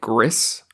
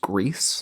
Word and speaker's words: Gris: watching okay um and I want to call it griss but I believe you said it's pronounced grease yes what a beautiful